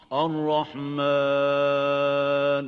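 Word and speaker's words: الرحمن: Ar-Rahman. So it's Ar-Rahman, not Mon. So avoid nasalization when pronouncing the alif. Make sure that the alif is pronounced without ghunna.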